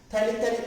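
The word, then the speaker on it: phthalic: थैलिक क्यों बोल रहे हैं? स्टार्ट तो करते हैं TH से। इंग्लिश का कमाल है, साइलेंट होते हैं, पता नहीं ऐसे ही नाम का आता है।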